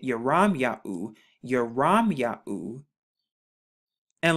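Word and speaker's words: ירמיהו: you piece it together you have the yard right here which makes the y sound the rash which makes the r sound the mom which makes the m sound and then the yahoo right here the yod the hey and the u so when you put it together you get your ram yahoo your ram yahoo and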